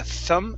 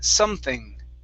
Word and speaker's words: something: um something so here your s at the very beginning was more like a thumb something okay so use an s sound here so sum something something uh-huh so something off